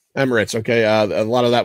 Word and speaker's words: Emirates: Arrakis, aka Dune, was United Arab Emirates. Is it Emirates or Emiratis? How do you say that? I think Emirates. Emirates.